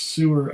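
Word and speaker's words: Suir: banks of the river sewer since this summer when the name forever it's spelt s-u-i-r but pronounced sewer i guess since 1792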